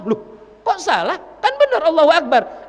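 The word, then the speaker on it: أكبر: Allahu Akbar. Iya, tapi kan kamu bacanya Akbar. Enggak boleh panjang itu bnya. Kalau bnya dibaca panjang, Akbar.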